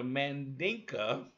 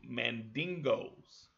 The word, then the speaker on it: Mandinka: Now the Mandinka, which the Europeans mispronounced and called them Mandingos.